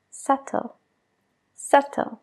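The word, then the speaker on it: subtle: a ver si aciertas sutil se dice SAT sle hay una B justo antes de la t pero no la pronunciamos Ahora quiero que prestes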